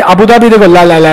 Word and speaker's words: Abu Dhabi: Sir, how do you say Abu Dhabi? Right? Everybody keeps correcting me. I say Abu Dhabi, they go la la la la la.